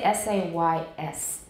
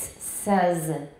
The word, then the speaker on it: says: ingrained habits so um says is pronounced like this everybody says yeah don't say says it's not says it says says you learn says in